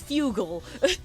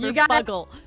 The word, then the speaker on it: fuggle: If you spell it with one G, it's fugal. Like bugle. You got to have the two G's for fuggle.